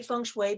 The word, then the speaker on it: feng shui: what feng shui is i say feng shui because the mandarin pronunciation is feng shui but it can be thing tsui fun soy fun shui so many dialects so many different possibilities